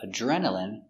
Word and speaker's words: adrenaline: Remember D R together make the sound J.